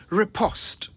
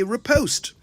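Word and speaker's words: riposte: vocabulary repost r-i-p-o-s-t-e repost now it's worth mentioning that the English say repost but the Americans say repost and as I always remind you the national language of Ghana is English not American so we're going with repost a repost is a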